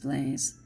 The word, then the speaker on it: Blaise: same I think it's pronounced blaze BL a is e but when I was remembering was st.